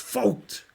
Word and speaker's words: Vogt: It's pronounced Vogt.